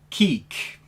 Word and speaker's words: Quique: And today, as a Patreon request from Demosphere, I'm talking about the 1993 debut album from Seefeel, Quique. That is apparently how it's pronounced.